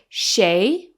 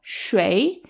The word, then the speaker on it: 谁: It actually has two pronunciations. You could either say 谁, which is common in southern China, or 谁, which is more common in northern China.